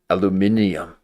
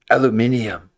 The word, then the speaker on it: aluminium: They even say it oddly like aluminum. It's aluminum. Engineer from design engineer from Apple. Aluminium. I know that's the correct way to say it, but stop saying it correctly.